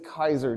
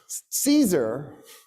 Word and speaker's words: Caesar: is because of what a guy named Gas Julius Kaiser did you guys incorrectly call him Julius Caesar Caesar I'm going to do